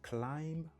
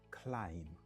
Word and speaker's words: climb: ça b en passon b en silencieux be silent il pas dit climb il dit climb climb qui signifie grimper il pas dit plumber il dit plumber Plom qui signifie plombier.